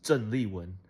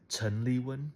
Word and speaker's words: Zhen Li Wen: And it's pronounced Zhen Li Wen, but I said Chen Li Wen.